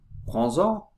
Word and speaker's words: prends-en: » Quand on dit « Prends », on ne prononce ni le D, ni le S. Mais dans l'expression « prends-en », on prononce la dernière consonne avec la première voyelle, dans ce cas, du pronom.